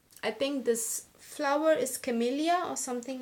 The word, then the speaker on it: camellia: and founder of the brand loves this flower camellia yeah that's how you say it camellia flowers